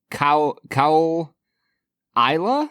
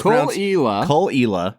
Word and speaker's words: Caol Ila: all right everybody today we are checking out khila 12E this is this is spelled much differently than it's pronounced Brad yeah it looks like C cow Isa yeah pretty pretty much like C cow maybe